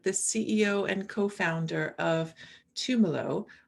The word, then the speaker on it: Tumelo: ceo and co-founder of tumelo i think i've got that pronunciation correct i think of it as a bit like pomelo tumelo which is a really